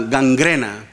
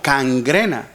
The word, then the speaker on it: gangrena: La palabra ah gangrena. Algunos a veces yo lo he escuchado así como cangrena.